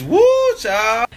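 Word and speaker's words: whew chile: How do you say woo Chile? You said what? Woo Chile. Woo Chile? Like W-H-E-W Chile. Chili? It's woo, child.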